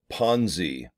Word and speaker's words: Ponzi: Let's uh delve into Ponzi p-o enzy it rhymes with Fonzie of Happy Days Arthur Fonzarelli one of